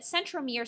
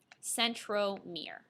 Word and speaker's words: centromere: about this terms that centromere sounds like the word center so if you even want it to say center mirror to help you remember that would be great